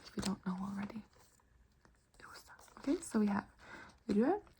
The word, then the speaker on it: rosa: Then we have pink, which is rosa. Rosa. Rosa. Try to roll your R.